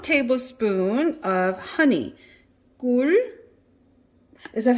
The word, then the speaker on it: 꿀: 꿀. Is that how you say it? 꿀?